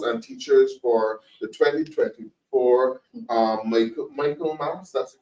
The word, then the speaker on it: Michaelmas: You have a situation with late notifications of the transfer of principals and teachers for the 2024 Michaelmas, that's the correct pronunciation term.